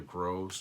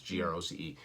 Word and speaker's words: Groce: say his last name, it's either Gross or Groce. It's spelled like Jim Croce, but with a G, so it's Groce.